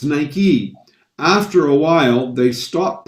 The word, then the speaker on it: Nike: us in north america we would have called it nike because it because it looks like like right or mike but it's nike after a while they